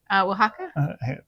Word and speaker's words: Oaxaca: And I always butcher the name. How do you say it? Oaxaca.